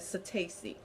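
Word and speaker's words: psittaci: disease is called chlamydia so tasty the P is silent and the P in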